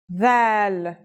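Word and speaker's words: ذ: This letter is like the TH sound in the word this. Do you remember that we learned another letter corresponding to the English TH sound? It was tha, and it's pronounced as a silent TH, as in thief. This letter's pronunciation is a voiced sound, the, as in this or that. It's pronounced with the tongue between the upper and the lower teeth.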